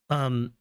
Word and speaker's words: mangent: MANGENT is what you would use to say that they are eating something. And even though it's got an ENT on the end, it's still pronounced mange.